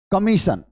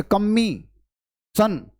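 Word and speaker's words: commission: सबसे पहली बात, जैसे अगर मैं आपको एक वर्ड लिख देता हूं, ये लिख दिया मैंने, कमीशन, तो क्या मुझे इसे पढ़ना चाहिए कम्मी सन?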